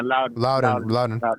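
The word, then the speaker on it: Loudoun: to begin playing with, I don't know if it's pronounced Loudon or Loudon. Yeah, Loudon.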